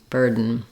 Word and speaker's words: burden: to my N sound, which is a syllabic N. Basically, it counts as a whole syllable. Even though there's no real vowel sound there, the N functions as the vowel and the consonant. So I say bird, N, burden.